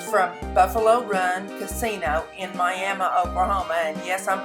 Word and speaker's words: Miami: it right my and mine is spelled the same as miami florida but this is the way we pronounce it in oklahoma just like the tribe so anyway I cut